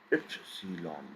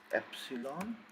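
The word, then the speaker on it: Ypsilon: It is always going to give you sound of y, as in yar or ear. Same pronunciation as this yacht, always ya.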